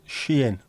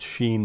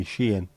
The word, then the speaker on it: Shein: If it's Shein, not Sheen by the way, Shein, or Temu, I think they pronounce it, Temu, it might take a while to arrive.